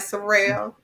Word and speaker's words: Surrell: in the person of Sorrell did I pronounce that right Sorel yes man we did you